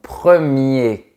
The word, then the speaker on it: premier: La bonne réponse est : On ne prononce pas la lettre "R" du mot "premier" parce que c’est le masculin et parce qu’il y a une consonne après. Tu prononces la fin du mot comme celle du mot "papier".